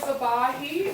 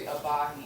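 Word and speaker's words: Ebahi: Hi, my name is Abahi. I actually just recently put in my application, so hopefully I'll be a member. My name is spelled eBay on the screen, but it's actually Abahi, E-B-A-H-I.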